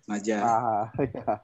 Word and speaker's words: Maja: Bacanya Maja atau Mahas nih? Maja.